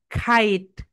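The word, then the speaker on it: kite: এটাকে আমরা কাইট বলি, মানে আকাশে যে ঘুড়ি এটাকে কাইট বলি, রাইট প্রোনাউন্সিয়েশন হবে খাইট, খাইট, ওকে।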